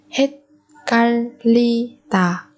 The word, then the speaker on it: 헷갈리다: Ở đây phụ âm ghi giọt chúng ta chuyển thành phụ âm căng tương ứng là sang ghi giọt, bởi vì phía trước của nó là bà chim, một cái bà chim mà được đọc theo bà chim thi cực. Còn phụ âm riêng ở đây chúng ta đọc theo âm L, bởi vì phía trước là bà chim riêng luôn.